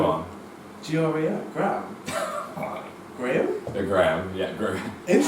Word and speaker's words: Graeme: By the way, I have you on my phone saved as Graeme.